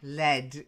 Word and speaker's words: lead: on the fire kettle swirling boiling kettle of lead all red a red LED yeah the metal lead it's a soft metal